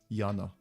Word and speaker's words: Jana: Yana. Because the Y in Eastern Europe is pronounced Y.